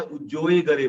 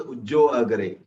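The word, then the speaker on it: उज्जोयगरे: तो पहला कैसे है ये लोगस उज्जो गरे, अर्थात, और ये भी हम लोग कई बार क्या उज्जोए गरे बोलते हैं, उज्जोए गरे नहीं होगा, उज्जो अगरे, नॉट हियर।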